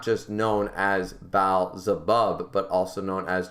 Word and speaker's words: Baal: not just bow but it's pronounced baal not bl it's beelzebub when it